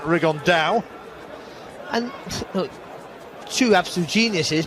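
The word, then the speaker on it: Rigondeaux: or as he's correctly pronounced with the uh spanish accent rig on dao and look two absolute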